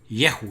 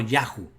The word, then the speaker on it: Yehu: Y noten ustedes que la Sheva no se pierde porque no está acentuada, por tanto es Ye, Yehu, no Yahu.